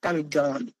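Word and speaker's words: comedone: এইযে এই শব্দটা কামিডন এটা কামিডন উচ্চারণ হবে কামিডন।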